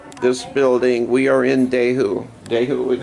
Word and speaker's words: Dehu: We are in Dehu, is how you say it, where Tuka lived.